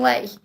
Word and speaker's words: lei: Because I've just ordered my spending money in, is it called lei? Romanian lei. Because I think I was saying Lou, and obviously it's not Lou, Romanian lei. I think that's how you say it anyway, but how exciting.